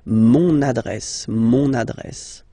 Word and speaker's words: mon adresse: Mon adresse, my address, mon adresse, okay, you can hear now this little link, so you get to pronounce this N, mon adresse, okay.